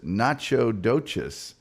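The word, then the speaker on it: Nacogdoches: Hey, Funky Broncos says, "I'm from Nacadocious, Texas. It's pronounced nachodocious." I think it's Nacadocious.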